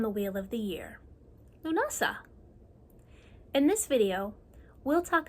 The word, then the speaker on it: Lughnasadh: It's pronounced lunasa.